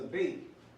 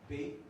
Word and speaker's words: Bet: It has the sound of B. Of the English B. B. But then you have bait that looks just like it. So this is the B sound, and this would be the V sound.